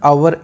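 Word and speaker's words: hour: तो यहाँ पे जो लिखा है आवर, इसमें एच साइलेंट रहता है, तो इसकी जो प्रोनाउंसिएशन है ये है वोवेल की, तो इसलिए आर्टिकल इससे पहले आएगा एन।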